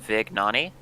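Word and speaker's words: Vignone: Just to correct you here, according to Nicholas, his last name is pronounced Vignani.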